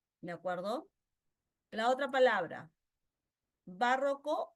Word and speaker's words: barroco: La otra palabra, barroco o barroco. Bien, barroco, grave.